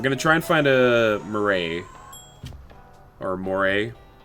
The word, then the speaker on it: moray: try and find a Murray or Moray is there a proper way to say that or am I silly it is more a okay Murray the Murray